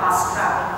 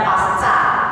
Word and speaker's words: Paskah: benar adalah Paskah, ya Paskah itu dari bahasa Yunani. Nah, saya sih tidak masalah Bu pakai Paskah, nggak masalah. Yang artinya adalah melampaui atau melewati, ya. Asalkan jangan dibacanya pasca, nah berbeda lagi.